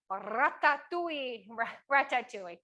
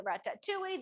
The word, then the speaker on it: ratatouille: We are going to make some ratatouille. You don't have to roll your R's.